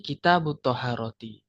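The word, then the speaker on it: كتاب الطهارة: Satu misal kitabut thaaharati. Kita enggak boleh membaca kitabu kemudian atharati gak. Tapi kitabut thaaharati bacanya itu jadi satu. Dua kata bacanya jadi satu.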